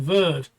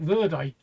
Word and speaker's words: verde: I kept pronouncing green verd, which is how the French pronounce it, where it's not. The Spanish actually pronounce it verde.